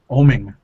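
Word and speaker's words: Oeming: Omen? Oming.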